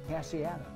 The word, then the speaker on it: Casciato: Casciato. Did I do that right? Perfect.